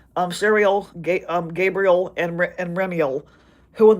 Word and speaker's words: Sariel: and the remaining names are Uriel, Raguel, Raphael, Sariel, sorry, mentioned that name wrong, Sariel, Gabriel, and Remiel, who in the Book of